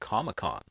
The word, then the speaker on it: Comic-Con: So, it's the big thing is San Diego Comic Con, but they pronounce it ComicCon, like it's one word.